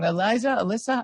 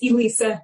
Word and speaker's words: Elisa: Alyssa, I'm sorry, I don't remember. It's Elisa, thanks.